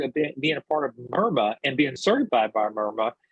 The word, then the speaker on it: MIRMA: You see it's MIRMA, M-R-M-A-A, we pronounce it MIRMA, .org, not com, but .org.